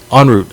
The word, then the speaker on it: En route: So En route was En route, not en route. Okay, en route. It has a French kind of.